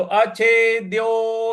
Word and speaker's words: अच्छेद्यो: और ' d' पर 'o' की मात्रा को लंबा किया जाना चाहिए; तो, अच्छेद्यो।